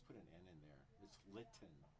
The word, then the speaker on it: Linton: Linton, correct?